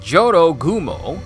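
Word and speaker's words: Jorōgumo: temple relationshipgoals it seems Joro gumo pronounced Johto Gumo a horrific fusion of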